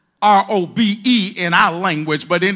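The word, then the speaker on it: רֹב: It's pronounced in the Hebrew robe. R-O-B-E in our language, but in the Hebrew, R-O-B, robe, his excellent greatness.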